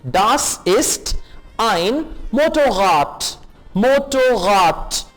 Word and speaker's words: Motorrad: Motorrad. D को T pronounce करेंगे.